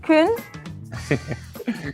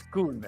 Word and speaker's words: Koen: It's Koen, actually. Kun. Oh, okay. Koen, Say it again. Koen. A proper oo sound.